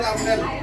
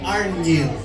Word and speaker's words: Arnil: Ayusin yung pagbigkas sa pangalan ni Arnel, ha? Hindi yan Arnel. Ayan, Arnil.